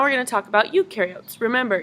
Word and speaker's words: eukaryotes: Now we're going to talk about eukaryotes. Remember, eu rhymes with do, therefore eukaryotes do have a nucleus.